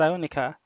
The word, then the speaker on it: Aronica: pronouncing your name right is your name pronounced aronica yes yeah okay yeah nice